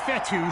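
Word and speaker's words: Fetu: and ten so coach fetty spelled f-e-t-u for the longest time i was pronouncing it coach fetta like feta cheese so let's just say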